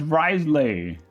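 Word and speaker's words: Wriothesley: even know myself oh it's Risley I learned his pronounced Risley yeah which is Happ that earthquake almost like Wesley and a lot different from what it's actually spelled like which anyway ah that let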